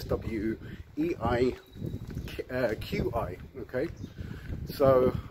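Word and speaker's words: Swieqi: the spining It's s SW e i uh Qi okay so and of course when I first came here I used to uh pronounce the Q so I used to say swey um it's actually swe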